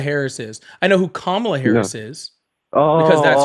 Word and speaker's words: Kamala: What you're just saying is No, I don't know who Camala Harris is. I know who Kamla Harris is.